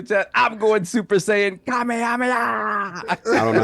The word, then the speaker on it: Kamehameha: I'm going Super Saiyan Kamehameha. I don't know how to say it. You're killing me when I say it. It's like Kamehameha.